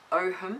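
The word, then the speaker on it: Ogham: fantastic um series that she's doing on the Oham apparently it's pronounced um so that's really fantastic too and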